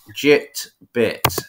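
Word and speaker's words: Jitbit: bit I'll repeat that jit bit so pronounce exactly how it's spelled um there is a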